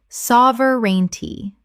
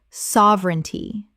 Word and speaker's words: sovereignty: Sovereignty. Correct pronunciation. Sovereignty. 3 syllables in natural speech. The middle syllable collapses.